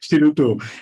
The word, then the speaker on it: Shiruto: Yeah, actually, Shiroto itself, the name, if you think you talk about you pronounce Shiroto the time, the shi is sound like shield, a shield that going to defend yourself, the shield.